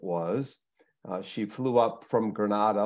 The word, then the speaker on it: Grenada: she flew up from Granada or Grenada or how do you say it Therese it's Grenada Grenada her and Nick her